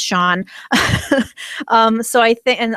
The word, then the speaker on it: Sean: down it's like how it took me forever to realize that sha sea an is pronounced Shan I thought it was just scen for the longest time and I was like why would somebody name their kid scene um but it's Sean um so I think